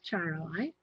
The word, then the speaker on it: Charoite: This is Charoite. That's spelled Charoite. As a heart.